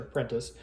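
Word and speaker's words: Prentiss: with a few straggler regiments from, I think, Prentice's. Turns out that is how you say his name, like I did in last scenario. I wasn't really sure. Prentice, Benjamin Prentice.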